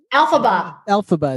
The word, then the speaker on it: Elphaba: In Wicked, is it Elphaba? I don't think so. Is it Elphaba? That's not Elphaba, right? Elphaba is how they pronounce it.